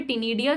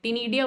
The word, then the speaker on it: ctenidia: एक वर्ड भी दिया हुआ है टिनीडिया, सी साइलेंट होता है, टिनीडिया वर्ड दे रखा है, CTENIDIA।